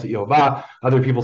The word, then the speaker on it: Yehovah: I pronounce it Yehovah. Other people say Yahweh.